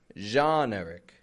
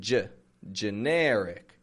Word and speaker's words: generic: from French as well generic this does have that geen spelling but I'm not saying Je generic genic I'm saying J generic so again the spelling is the same as genre g n but we americanize it generic garbage garbage